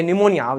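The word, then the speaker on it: pneumonia: हाँ ये निमोनिया, जबरदस्ती उसमें पी साइलेंट करो, निमोनिया ना, पी निमोनिया, पी लगाना पड़ेगा जबरदस्ती साइलेंट करने के लिए।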